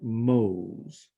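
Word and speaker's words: mhos: unit is M h o s and you pronounce that Mo's does most look like the word home spelled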